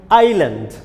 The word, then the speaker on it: island: don't pronounce islam here s is silent it will be pronounced like island yes island is silent